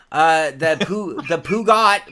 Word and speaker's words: Peugeot: Grab her by the Peugeot.